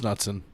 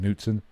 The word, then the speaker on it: Knutson: A gentleman by the name of Eric Knutson, which It's Nutson. I hate that bullshit. What? It's actually, I think, Knutson. But It's Nutson now. I hate silent letters.